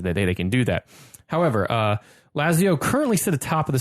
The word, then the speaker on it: Lazio: He listened to the last episode and said, "Oh, by the way, tell Ferris it's pronounced Lazio."